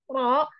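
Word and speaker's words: ر: Karena huruf ro ini huruf yang umum sekali orang Indonesia salah membacanya karena menganggap huruf ro sama dengan huruf R. Salah ya ibu-ibu ya. R itu getarannya terlalu banyak. Ya, karena memang posisi lidahnya terlalu ke belakang dibandingkan dengan ro gitu.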